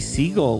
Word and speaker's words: Siegle: say hi hey now I hope I said your name right I guess could be pronounced another way so you can tell me if I'm wrong it's fine that's perfect alright do you want